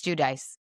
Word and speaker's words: Giudice: Other times I will say my last name is Judice, which is the American way to say it.